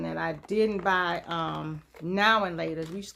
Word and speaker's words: Now and Later: in my pack and i still come nine laters and i think it's because i don't know why people never said now and later nobody ever pronounced it that way and i'm not going to disrespect the history of it by mispronouncing it in the colony now and later it was nine laters because maybe because we